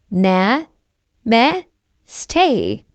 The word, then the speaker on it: namaste: Namaste, they repeat and slowly bow toward Miss Rabbit. How to pronounce namaste? Na, me, stay.